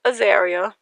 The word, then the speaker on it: Azaria: I took the H off and pronounced it so it would sound more girly because it sounded too rough for me.